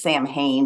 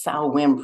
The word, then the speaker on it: Samhain: You know, I know it looks like it says Samhain, but it's Samhain pronounced in their language. That evolved into what we do today for the holiday. And that bonfire, the Samhain fire, was a symbolic beacon of light and